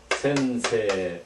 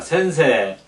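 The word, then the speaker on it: 先生: 우리말로는 선생님 이런 말이고요 읽을 때는 어 어떻게 발음을 하면 센세 이렇게 됐습니다 같이 읽겠습니다 센세 센세 그래서 여러분 기억이 나시가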